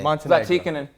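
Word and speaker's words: Zlatičanin: Zlaticanin.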